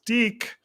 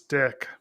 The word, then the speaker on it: Dic: And number two, Tom, in preparation for this episode, I watched it, and at the very end, it's not pronounced Deke. It's D-I-C. It's Dick. Hate to say come it.